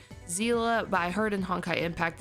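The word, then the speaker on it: Seele: attack multiple times in a turn such as zela and I know her name in honkai style is pronounced Zila by herd and honkite impact that is pronounced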